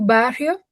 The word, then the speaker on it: bairro: Temos dois R's, então vai ser como J.